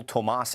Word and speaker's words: Tomas: He pronounces his name Cole Tomas Allen.